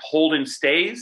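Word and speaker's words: Holden Staes: chance i i want to make sure i pronounce his name right holden stays is that right yep you got it dies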